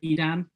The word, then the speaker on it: Edan: read um your book the the way of edan is it is the edam yes yes you guys were saying it correctly